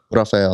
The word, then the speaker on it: Rafael: well what's your full name I was like Rafael and they're like okay Raphael and I go